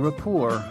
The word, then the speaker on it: rapport: Note that the T is silent in rapport.